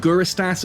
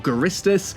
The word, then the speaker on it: Guristas: is the actual name is it guristas or garistus it's up to you i don't think there is actually an official pronunciation i've heard even ccp the developers who even online say it both ways so who knows i like to say guru estas but i often find myself saying garistus so if i kind